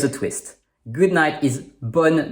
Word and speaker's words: bonne: The E in bonne is silent.